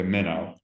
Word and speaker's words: Minno: And just to make sure, it's pronounced Minno or Yeah. Mino? Okay, Minno.